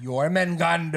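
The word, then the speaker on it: Jörmungandr: J is y. What? Nothing. Cuz it's spelled with a J like instead of a Y sound.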